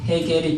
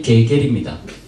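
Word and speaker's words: Hegel: 러시아에서는 해겔이 게겔입니다. 프랑스에서는 애글. 애글? 예, 거기 아슈가 묵음이기 때문에 뭐 애글 뭐 이렇게 됩니다.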